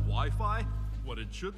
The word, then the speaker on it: Wi-Fi: Wifey? Well, it's either wiffle ball or an arranged marriage game. It's actually pronounced Wi-Fi, Ralph.